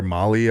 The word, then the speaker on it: Mahle: They went out and got 3 pitchers, an awesome closer in Jorge Lopez, Tyler Mahle, I believe is how you say his name, and Michael Fulmer.